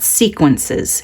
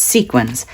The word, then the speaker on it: sequins: Well, sequins, and that's how you say it. It's not sequences, it's sequins.